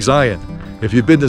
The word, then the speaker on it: Zion: Unless you're like from the Matrix or something, then maybe you'd call it Zion. So, it would rhyme with rhyme with Cllingon or something.